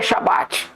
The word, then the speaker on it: Shabat: Todo mundo pronuncia Shabat. A pronúncia dentro de Israel, que a gente conhece hoje como Israel, é Shabat, irmãos.